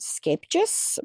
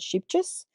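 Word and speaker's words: Scheepjes: And we found this brand, it's actually pronounced Scapejes, but I can't say that on a regular basis. We pronounce it Sheepjes.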